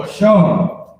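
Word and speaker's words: אשר: This is how you pronounce it. Ashar.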